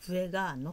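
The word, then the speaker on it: vegano: えたら、V の方で、ベガーノと言いますね。ベゲタラーノ。それから、ベガーノ。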